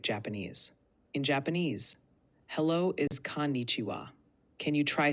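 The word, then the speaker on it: こんにちは: Konnichiwa. The KO is short. Ni is pronounced like ni. Chiwa sounds like chiwa. Give it another try. Konnichiwa.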